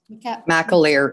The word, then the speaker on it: McAleer: McAleer, it's fine, don't worry. The emphasis on the correct syllable.